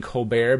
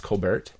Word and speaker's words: Colbert: see I'm stuck saying Colbert because that's not actually how you pronounce his name it's Kolbert her Kolbert with the T oh you really actually pronounce the T yeah you do he